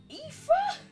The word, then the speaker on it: Aoife: Aoife? Is that what that's meant to be pronounced as? Aofi is Aoife.